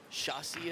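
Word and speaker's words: chassis: on the second bounce then Shaw see as they say it's spelled chasis the piece that runs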